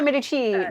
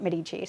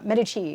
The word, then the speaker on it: Medici: on it yes you're supposed to call it midi chi if you don't call a midi chi then you're doing it wrong apparently and and